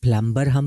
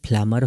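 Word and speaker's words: plumber: है लेम नम प्लमर प्लमर में भी प्लम हम नहीं पढ़ेंगे बल्कि प्लमर होगा बी साइलेंट है बॉम क्लाइम कॉम एंड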